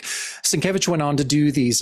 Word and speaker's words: Sienkiewicz: Oh yeah, and I still hear people mispronounce it all the time. But I love even on his Instagram, too. It's it's Sienkiewicz, you know, the Kev is in in all